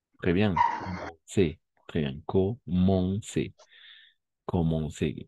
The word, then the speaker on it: commencer: Commencer. Commencer. Con lo que dijimos justo aquí al lado, ¿no? Esas combinaciones de letras van a ser on. Commencer. Très bien. Elle commençait souvent par. Très bien. Comenzaban. Commencer.